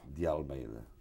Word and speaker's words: de Almeida: So any pronunciation goes. I'm used to it. And then the rest of the name is? De Almeida.